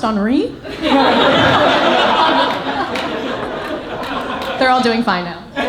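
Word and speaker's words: Henri: her and i said actually it's pronounced honoree they're all doing fine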